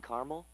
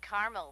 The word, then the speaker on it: caramel: I'd like it in caramel actually you said caramel when it's pronounced caramel can't we just call